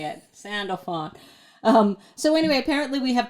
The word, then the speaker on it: Sandalphon: How do you pronounce it? Ready? Wait. Sandalphon. That's how you say it. Sandalphon.